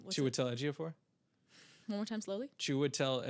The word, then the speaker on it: Chiwetel Ejiofor: And then, oh God, I don't know how to pronounce his name. What's it? Chiwetel Ejiofor? One more time slowly. Chiwetel Ejiofor? I've only read the name. I've never said it out loud. Chiwetel Ejiofor.